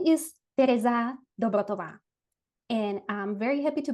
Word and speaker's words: Tereza Dobrotová: So my name is Terza Dotova and I'm very happy to be here.